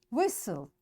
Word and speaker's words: whistle: Castle, often, whistle, soften, hasten, bustle, and gormy. In all these words, letter T is silent.